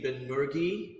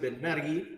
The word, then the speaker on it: Benmergui: Americans say it Ben Mi, which is fine. Uh, I pronounce it Ben Mi, which is, you know, just a slight variation of that.